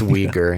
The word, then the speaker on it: Uyghur: It's Uyghur. It's pronounced Uyghur.